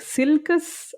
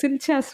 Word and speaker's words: Silchas: So Teist, I agree, and I think Silkus, I don't like it. It's Silchas ruin is what I've been saying.